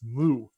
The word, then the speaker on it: My: Now, to give trivia to all this, the founder of MySQL had a daughter named My, which in Finnish is pronounced Mu.